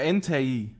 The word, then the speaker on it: Entei: Es wird E-N-T-E-I geschrieben. Das heißt, ganz genau ausgesprochen heißt es sogar Entei. Ja, aber wir sind nicht im Englischen, wir sind im Deutschen. Und im Deutschen wird es Entei ausgesprochen. So wird es zumindest gelesen und so habe ich es gelernt.